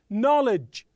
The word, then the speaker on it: knowledge: as you say honest knowledge the wo is silent okay right the W is silent so listen to these